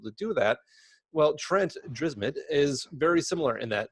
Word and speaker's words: Dyrsmid: I'm going to get his name wrong, Trent Dyrsmid. Is that how you pronounce it? Dyrsmid, yeah. Dyrsmid, on the podcast, and he's got some great